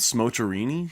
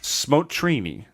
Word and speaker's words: Smotrini: What was it called? Smocherini? Smotrini. Smocherini.